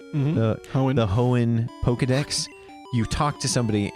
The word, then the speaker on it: Hoenn: Hoenn? Mm-hmm. The Hoenn Pokedex, you talk to somebody and he gives you access to all 3 birds through like some like dialogue.